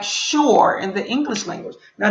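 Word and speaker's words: שׁוּר: to hear it and it sounds like sure in the english language this is hebrew this is english so the word enemy sounds like sure in the english language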